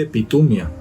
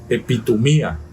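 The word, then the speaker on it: ἐπιθυμία: 1939 del griego epitoma mucha gente dice epit humia pero la tilde el acento en el griego está en la i epitoma poner el corazón sobre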